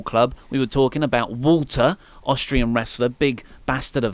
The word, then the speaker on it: Walter: mayor of Painesville, and you asked how to pronounce Walter correctly. I think for you guys, for an international audience, Walter is perfectly fine to say, but if you want to do it right, it's Walter. Walter.